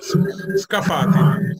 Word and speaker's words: Scafati: And I'm not going to because I would pronounce it Scafati. How do you say it? That's close. Scafati. Scafati.